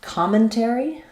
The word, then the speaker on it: commentary: So commentary is stressed on the first syllable com, which is important to know because com therefore is going to have the ah sound. So you'll see it in the dictionary with the ah symbol, common.